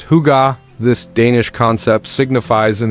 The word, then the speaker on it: hygge: organic elements, and the Scandinavian principle of hygge, pronounced hygge.